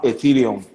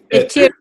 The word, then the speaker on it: Ethereum: Actually, I think it's pronounced Ethereum. Ethereum, right? Ethereum. You gotta Ethereum. add that. You gotta add that. You gotta roll your tongue with that R.